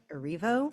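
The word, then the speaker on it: Erivo: uh Cynthia I think her last name is pronounced uh arivo Cynthia rivo she's amazing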